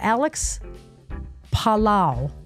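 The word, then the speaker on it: Palou: But Alex Palao, I looked up how to say his name. He's Spanish.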